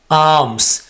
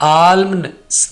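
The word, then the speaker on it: alms: खैरात, आर्म्स, यहां पर एल को मैंने रेड क्यों किया, ताकि आप ये चीज समझ सको कि हमने एल को यहां पर साइलेंट रखना है हर हाल में, इसको बोलना नहीं है आर्म्स, ये आल्म्स नहीं होगा, यानी आल्म्स नहीं होगा बल्कि आर्म्स, आर्म्स, खैरात, सदका वगैरह।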